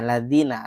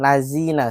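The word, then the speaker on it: الذين: Ingat ya, belajar makhraj huruf dzal ya jangan lazina siratalzina salah. Marj huruf dal itu bibirnya ke depan keluar dari ee sela-sela gigi kita sedikit saja dan dilembutkan membacanya. Contohnya gimana, Ustaz?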